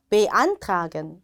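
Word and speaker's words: beantragen: 쓸 수 있는 동사입니다 자 베로 시작하니까 강세가 들어가지 않고요 그래서 아예 강세가 들어가죠 안이라고 읽으시면 니다 한번 음해 볼까요 베안 다시 한번 안 자 독일 대학 준비하시는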